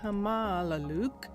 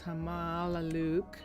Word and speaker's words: Hamaalakut: This is Py Hamaluke. And um and that is the correct pronunciation. Finally, I had it misspelled and mispronounced and that's why it was so difficult. Um, but it's Hamaluke and um this is a level one um